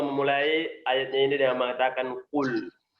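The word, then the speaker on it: قل: Allah memulai ayatnya ini dengan mengatakan qul. Jadi harus benar bacanya qul, qaf. Bukan qul, tapi qul.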